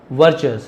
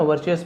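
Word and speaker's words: virtues: धीरज धैर्य कहते हैं धैर्य और भरोसा विश्वास आर पावरफुल वर्चस है ना? वर्चस मतलब क्या होता है? गुण को हम वर्चूस कहते हैं। ठीक है? वर्चूस ऐसे पढ़े वर्चूस।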